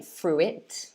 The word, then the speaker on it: fruit: so it's fruit fruit um so don't say fruit or fruit say fruit fruit i'll give you